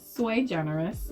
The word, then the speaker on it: sui generis: Yeah, it's sui generis. It's actually Latin, for one of a kind. Latin for one of a kind. Yeah, so it's sui generis makeup.